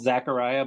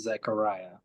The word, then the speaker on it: Zechariah: It's I've always been called Zachariah, but I think it's pronounced Zechariah. Zechariah.